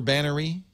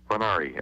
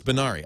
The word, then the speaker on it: Banari: The world-famous Bannery? Banari, actually. I know, I say it wrong, just to make you crazy. It doesn't make me crazy. I'm used to it. No, I didn't even know. So it's Banari. I'm going to say it right from now on.